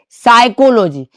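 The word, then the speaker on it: psychology: पी तो है। पी लिखना जरूरी है लेकिन बोलना नहीं। ठीक है? पी का आवाज अगर हम निकाल रहे तो हम गलत उच्चारण कर रहे हैं। तो यहां पे पी का आवाज नहीं निकालना है।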